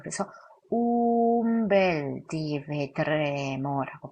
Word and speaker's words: un bel: 운 다음에 벨이 나왔을 때는 운벨이 아니라 움벨이라고 합니다. 움벨. 그래서 운베소가 아니라 움베소라고 하거든요. 그래서 여기는 n이 아니라 m이라고 발음하셔야 돼요. 그래서 umbel di vedremo라고 발음하십니다.